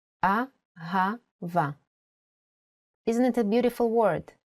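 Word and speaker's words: אהבה: The word Ahava uses it in both ways. When Hey appears in the end of the word, it will always sound as Ah. Ahava is love in Hebrew.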